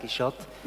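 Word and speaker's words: Quichotte: Um, and finally, uh, there's kind of a secret word game to to the title, Kishot, because both in French and English, you pronounce it like that, Kishot.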